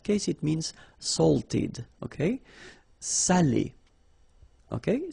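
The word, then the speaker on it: salé: because in that case it means salted okay Sally okay say say delicio say delicio okay and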